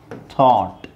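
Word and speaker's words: thought: ಜಿ ಎಚ್ ಹೇಳ್ತಾ ಇರೋದು ಸೋ ಜಿ ಎಚ್ ಇಲ್ಲಿ ಇಲ್ಲ ಸೋ ಟಿ ಎಚ್ ಓ ಟಿ ಅದನ್ನ ನಾವು ಏನು ಹೇಳಬೇಕು ಥಾಟ್ ಬರೀಬೇಕಾದ್ರೆ ನೀವು ಓ ಯು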